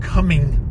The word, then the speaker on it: Cumming: You're saying Cumming. And they're like, how do you spell that? You're like, spell it like it sounds. Not when you're coming, it sounds like coming.